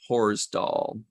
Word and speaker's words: Horsdal: He says it's pronounced Chayla Horsdal.